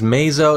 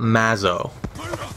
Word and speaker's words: Mazoh: and his name is pronounced Mao I was pronouncing it wrong earlier it is Meo it is not Mao freestyle knives with a nice skewer there there